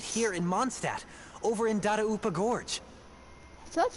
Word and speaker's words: Dadaupa: are still right here in Mondstadt, over in Dadaupa Gorge. So that's how you pronounce that.